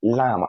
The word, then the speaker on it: lamb: well that word is lamb not lamb because the B is silent ah love not love